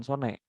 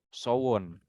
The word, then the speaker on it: Sone: Tapi cara bacanya bukan Sone, Sowon.